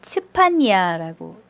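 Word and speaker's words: צפניה: 이것을 발음대로 읽으면은 츠파니아라고 읽게 돼요.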